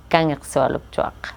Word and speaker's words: Kangiqsualujjuaq: So that's how they taught their teacher how to say Kangiqsualujjuaq, by saying, can you swallow a truck? Very fast.